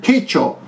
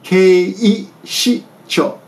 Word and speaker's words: 警視庁: I heard keicho, but it's actually 警視庁。 keishicho. Keishicho. But I heard keisho. Keisho, I heard. I thought, what is keisho? But keishisho. I'm sorry. Keishi. Yeah, keishicho.